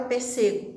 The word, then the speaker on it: pêssego: E não tem a palavra pêssego, né? Tem pêssego. Então, a sílaba tônica aqui é o P, essa palavra PE, né? Ela é uma proparoxítona e toda proparoxítona é acentuada.